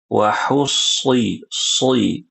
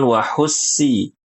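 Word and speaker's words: وحصل: Wahi huruf shad. Wahusilama wahusi bukan wahussi wahussi ini huruf sin ya tidak boleh diubah.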